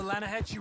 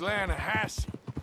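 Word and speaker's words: Lannahechee: the other day I rode down to the Lana Hetchy River I caught some beautiful steelhead trout you made an Alanis no no no the Lana hatch it runs right near here yeah but it's pronounced Lana Hass why is everything in English said differently than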